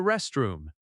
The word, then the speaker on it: restroom: Another common request is, "May I use the restroom?" May I use often links and sounds like my I use? Restroom has stress on rest. Rest, room.